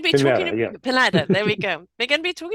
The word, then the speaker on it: Pineda: Am I pronouncing it correctly? We're going to be Pineda, talking yeah. Pineda.